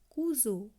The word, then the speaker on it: cousin: আবার যদি কোনো ওয়ার্ডে এস থাকে, সেই এসের অংশটুকু উচ্চারণ হয় জেডের ন্যায়। আমি আগেই বলেছি আমরা চেষ্টা করব জয়ের মতন উচ্চারণ না করে জেডের মতো উচ্চারণ করা, সেটা ফ্রেঞ্চ ল্যাঙ্গুয়েজের উচ্চারণের শুদ্ধতা অনেকটা বজায় থাকবে। যেমন COUSIN, কুজো।